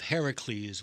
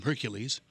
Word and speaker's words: Herakles: of the ninth labor of Herakles which is how you really say his name the Romans ruined it call him Hercules it was written in